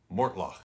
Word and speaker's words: Mortlach: you're talking about but you can also get creative and throw that sound on the end this is more mortloch